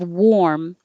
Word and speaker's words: warm: So think of warm as wore, past tense of wear. I wore this yesterday because most people don't have a problem with that word, wore. It looks more like it sounds, the OR, wore. And then just close your lips.